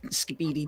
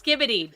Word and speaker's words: Skibidi: it ended up on Speedy toilet I have toe you're saying it wrong it's skibidi don't the brck alpas